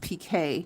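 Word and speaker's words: picot: But what I'm going to do this time, I'm going to work in what we call the PK. It's spelled P-I-C-O-T, but it's pronounced PK, like P-E-E-K-A-Y.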